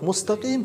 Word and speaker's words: مستقيم: А вот «мустаким» читается мягко.